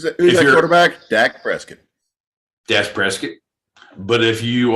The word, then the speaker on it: Prescott: pronunciation debate prescott versus press kit right oh hundred percent triscuit for asking oh well no if you're local if you're local and let you know it's prescott if you're if you're a